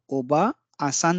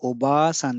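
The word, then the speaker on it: おばあさん: जो अतिरिक्त लगी है, इसमें हम ओबा आसान नहीं कहते हैं, इसको प्रोनाउंस नहीं करते हैं। हम इसको ओबासान कहते हैं।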